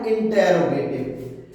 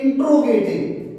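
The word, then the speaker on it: interrogative: अब इसके बाद में लिखना है इंटेरोगेटिव, इंटेरोगेटिव sentence, इंटेरोगेटिव sentence, sentence. अब इंटेरोगेटिव, कुछ बच्चे इसे पढ़ते हैं इंट्रोगेटिव, इंट्रोगेटिव नहीं है, इसका इंग्लिश प्रोनाउंसिएशन इंटेरोगेटिव होता है।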